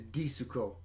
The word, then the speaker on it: Disco: Which is stupid that they translate that as D-I-S-C-O. I kind of like that because the intention is that you're supposed to pronounce it like they do in the song.